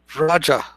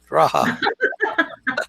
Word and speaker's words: Raja: Raja. Raja. You're thinking it's pronounced like a Mexican. Raja.